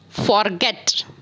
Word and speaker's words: forget: But whenever you pronounce this type of verb, you have to stress on the second syllable of the verb, means forget, forgetting. These are the rules how to make the verbs in the ing form in different ways.